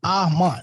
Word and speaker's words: Amon: right because you say that my name is butchered it's a-m-o-n- I'm on amen amen it's simple and it's interesting too